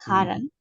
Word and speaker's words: cotton: have in common guys all these words that you don't pronounce the letter t as we know but